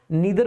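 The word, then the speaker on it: neither: अच्छा ध्यान देंगे, आप ईदर बोलें या आइदर बोलें, नीदर बोलें या नाइदर बोलें, डजंट मैटर, दोनों ही प्रोनाउंसिएशन इसके करेक्ट होते हैं।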